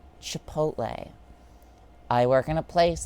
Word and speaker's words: Chipotle: Or chipotes. Because for some reason... Because for some reason, people think the L is silent in Chipotle.